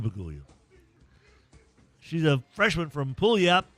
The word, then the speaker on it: Puyallup: She's a freshman from Puyallup. How do you say that, Hester? Puyallup, Washington.